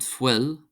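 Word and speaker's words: fuil: UI is pronounced as an I, so we have ishke, ishke, ishke, meaning water, and fwil, fwil, fwil, meaning blood. IU is pronounced as a U, so we have fluch, fluch, fluch, fluch, meaning wet.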